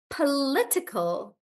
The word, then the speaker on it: political: making the word bigger the stress changes from PA to L and then it becomes political political like that political and then let